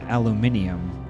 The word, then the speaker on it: aluminium: Is that why they Well, they in the UK they pronounce aluminum aluminium, right?